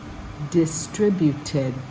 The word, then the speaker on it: distributed: gave distributed so distributed is a long one and you can work from the back remember Ted but Ted tributed distributed makes it easier to learn to say a